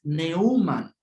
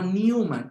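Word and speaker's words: Neumann: libros es algo curioso robert newman es neuman no newman con una palabra en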